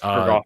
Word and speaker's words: Urgoth: Urgoth, I think is how I would pronounce it. Urgoth, yes. Okay, cool.